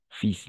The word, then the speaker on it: fils: No es fil, sino fils. Sí, es algo bien loco, pero bueno, es así. Fils, la L no se pronuncia, no se escucha, es solo fils.